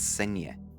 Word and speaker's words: Cienie: And well, I had to Google to try to see how you pronounce it. So, according to Google, it's Cienie.